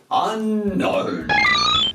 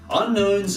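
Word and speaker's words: Unown: They're called Unknown because they're a mystery, I guess? Woo! Except it's spelled U-N-O-W-N.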